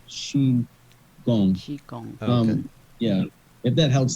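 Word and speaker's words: qigong: Fu CH Kong but now they spell it with a Q and The Q sounds like CH so if you see q i g o n g that's sheong Chong um yeah if that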